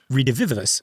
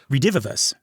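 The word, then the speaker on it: redivivus: think about the neuro I always stumble on this. The neuro redivous. No, I I always add an extra syllable. The neuro redivus.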